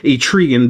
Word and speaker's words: Trigon: We'll go to another DC McFarlane fig right here of Trigon. I finally know how to pronounce his name. Trigon the Demon.